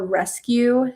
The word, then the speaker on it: resq: And then my my design business is called Rescue Studio. So, sounds like rescue, like we're saving somebody, but it's spelled like Q, like an editing Q.